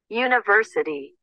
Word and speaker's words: university: University. University. Do you check university? University. Okay, so doesn't matter. I have a letter U there. I have to use a because we don't have a vowel sound.